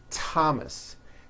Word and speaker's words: Thomas: words and names are spelled with a th they are pronounced as if they were spelled with with a normal T TT like that and these words are Thomas Thompson Teresa Thailand TS